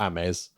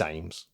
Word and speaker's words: Ames: programme very very influential or amis but it's ames it's not also so well if you